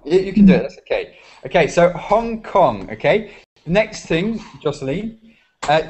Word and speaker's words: Hong Kong: you find this difficult Hong like the H yeah for Italian I don't think it's so difficult Hong Hong you can do it that's okay okay so Hong Kong okay next thing Joseline